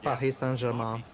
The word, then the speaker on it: Paris St Germain: By the way, it's pronounced Paris St Germain.